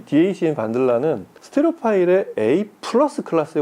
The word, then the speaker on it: Wandla: 페럼 오디오 오늘 볼 두 제품 DAC 반들라, 이 동구권 발음이라서 반들라, 그리고 전용 파워 서플라이 힙소스.